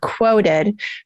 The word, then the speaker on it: Qwoted: So HARO is one place I started, and then there's another one now that has started up called Quoted, but they misspell it on purpose. It's QWOTED.